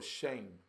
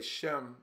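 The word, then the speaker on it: שם: the name Shem or shame. Shame. Shame. We say Shem because that's the English pronunciation, but I believe it's like shame.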